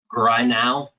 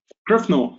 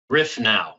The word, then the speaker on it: Grifnow: beverage from Danfoss, Renee Grinow. Is that how you pronounce it? Grifno, yes. Grifnow. Okay, all right. Yeah. Somebody snuck an F in there on me.